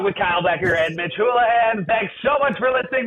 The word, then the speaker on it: Houlahan: Hey, thanks for listening to the Captain's Log with Kyle Bekker and Mitch Houlahan. Did I say it right? Hold on. Houlahan.